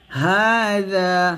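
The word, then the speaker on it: هَٰذَا: ফাশারিবুনা শুরবাল হিম তারপর হাযা হা ক্লিপটান যা ক্লিপটান হাযা নুজুলুহুম হাযা জালটা জিহ্বার আগা উপরে দাঁতের আগার সাথে লাগিয়ে পাতলা করে উচ্চারণ করবেন হাযা নুজুলুহুম ইয়াউমাদ্দিন ইয়াউমা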